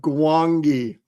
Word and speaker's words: Gwangi: But still, as you're a young kid, Howell wants to know how you pronounce it. Is the G silent? Wow. No, yeah, it's the Valley of Gwangi, Randy.